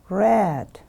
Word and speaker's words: read: use the form drew think thought read red we write it in the same way but we pronounce in different way remember read read send send change the